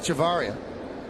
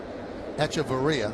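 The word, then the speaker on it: Hechavarria: Here's Adeni Havaria. Heavaria, I'm sorry. Count 0 and one. Now, I wonder that V's silent, right? In uh Spanish. Baria, right? The H is silent.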